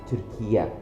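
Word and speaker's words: Türkiye: We pronounce our country as Turkiya.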